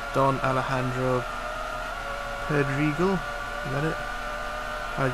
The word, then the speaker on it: Alejandro: J is pronounced H. Yeah. Alejandro. It's Spanish, I imagine.